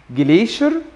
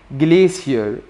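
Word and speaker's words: glacier: المين فوكابلري عندك جبل ماونتن، ماونتن نهر جليدي زي ما انت شايفه قدامك كده، بيتقال ليه نطقين، جليشر جليشر او جليسير جليسير، نهر ريفر ريفر، فيضان فلاد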